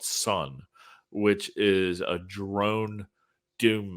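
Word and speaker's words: Sunn: yeah the spelling is s-u-n-n-o and then a parentheses or parentheses parentheses okay i pronounce the o i don't pronounce the parenthesis is that yeah no it's just sun yeah the o is silent thanks for saving me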